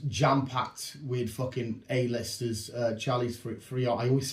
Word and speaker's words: Theron: Charlize Theron. I always say her last name wrong.